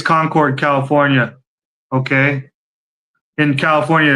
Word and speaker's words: Concord: He goes into this office and uh I think it's Concord, California. Okay. in California. It's called Conquered. It's pronounced Conquered.